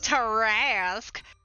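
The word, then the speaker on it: Tarrasque: Tarask. Ass. Like harass. Tarask. Great, we're fighting that at some point, aren't we? I get to listen to Matt Mercer say it, so... Yeah, Taraskas are not something you want to fuck with.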